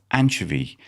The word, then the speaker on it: anchovy: You know, the Cork people go long on the second syllable.